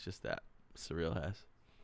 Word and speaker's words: Suriel: nice to meet you surreal is how you pronounce my name surreal yeah it's like the word wow dude you got